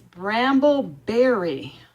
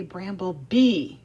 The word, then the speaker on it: Bramble Berry: that I'm using and I always say it wrong did you notice that in my other videos it's bramble berry bramble berry and half the time I say bramble bee and I'm wrong so it's bramble berry